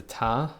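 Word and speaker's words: tare: So we're going to press the tar or tear button, depending on how you say it.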